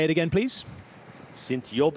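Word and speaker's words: Sint-Job: say it again please s yob in yob spelt Sint s n t uh is j o in G is an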